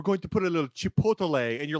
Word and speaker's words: chipotle: You do not say chipotle. You say chipotle. Just say it like a normal person. Chipotle, like a goddamn Minnesota. Chipotle.